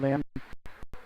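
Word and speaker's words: Lamm: Tracking it down now in the corner of Lamb. Lamb, L-A-M-M. First M is silent.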